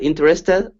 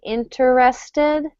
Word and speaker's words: interested: a syllable here so if I were to say it slowly i would say interested but quickly i say interested hmm interested interested it's